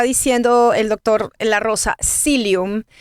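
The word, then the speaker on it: psyllium: Silium. Se escribe p S y L. P s psy lumilium.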